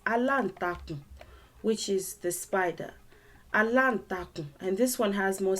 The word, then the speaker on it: aláǹtakùn: Aláǹtakùn, and this one has more syllables in it for practice purposes. Aláǹtakùn. There are 5 syllables in it. Aláǹtakùn.